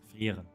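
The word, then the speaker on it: Frieren: It's Frier, by the way. The real pronunciation of this character is Frier because all the names are actually German words.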